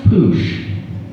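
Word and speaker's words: puxe: And the X in Portuguese is a sh sound. So it's pronounced poosh.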